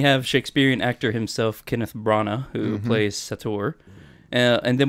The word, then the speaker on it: Branagh: So then we have Shakespearean actor himself, Kenneth Branagh, who plays Sator, and then we have Michael Caine for a whole 10 seconds, who plays Crosby.